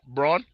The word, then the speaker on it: Braun: in the NBA Finals Braun yeah yeah I think they was pronounced Brown or Bron or whatever it is yeah it's spelled brown but it's pronounced Bron something like that something like that and